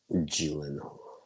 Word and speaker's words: Gyllenhaal: Gyllenhaal. That's how his last name is pronounced, really. It's a Swedish last name, the Gyllenhaal. To me, it's Golden Hole.